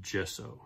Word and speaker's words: gesso: Oh, thank you, one of my YouTube viewers pointed out that it's pronounced gesso, so thank you for that.